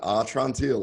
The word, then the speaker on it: Atrantil: And props to you for the perfect pronunciation, Atrantil, like, my belly's better.